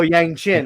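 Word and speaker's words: yangqin: Yangchin. Yangchin. Okay, as played by Gerrard. And what's that? Yangchin, like your chin. Oh, Yangchin.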